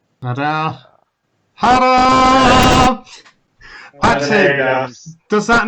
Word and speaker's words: Hadar: just to be that guy, I believe it is actually pronounced Hadar. Hadar.